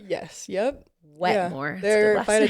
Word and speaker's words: Wetmore: Is that how you pronounce his last name? Wetmore? Yes. Yep. Wetmore.